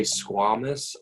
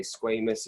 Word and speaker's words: squamous: And they are, some people say squamous. I was taught to say squamous. It doesn't matter how you say it.